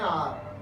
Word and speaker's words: hour: And after an आवर और सो, एन आर HOUR, यहाँ एक वर्ड आया हुआ है HOUR, इसका प्रोनाउंसिएशन देखिए।